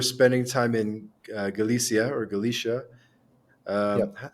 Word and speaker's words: Galicia: Portugal you were spending time in Galia or Galicia um how do you pronounce it what's the what's the right pronunciation uh it's Galia Gala okay Galia and you you were visiting your